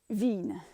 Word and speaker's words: vigne: sort of um challenging va vigne is v a veen as written by karen